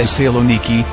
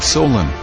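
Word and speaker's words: Thessaloniki: names they were derived it is the saloniki not Solen from Alexander to my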